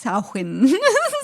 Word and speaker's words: Samhain: yeah it is pronounced sahin english it's not english it's gaelic gay look in english